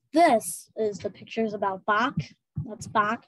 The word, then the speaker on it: Bach: His name is pronounced Bach.